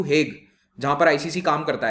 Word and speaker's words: Hague: let's say theoretically to हेग, जहां पर आईसीसी काम करता है, ठीक है, जगह का नाम वैसे हाग प्रोनाउंस होता है, तो अगर उसे हाग